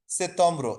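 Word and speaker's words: septembre: হচ্ছে ব্যাপারটা অতটা সেম লাস্টে আরটা ছেড়ে দিবে জাস্ট একবারে হালকা হয়ে যাবে আর তো আর উচ্চারণটা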